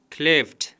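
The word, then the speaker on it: clapped: کلیفت کلیفت پر اخر کې د ډي د ټي اواز کوي.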